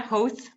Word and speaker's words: Howth: Am I pronouncing that correctly, Howth? You are, yeah, Howth.